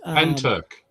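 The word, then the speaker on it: Pentyrch: incident which which is pen Turk P I'm sorry you say pen and then you say Turk like like jerk you know but Turk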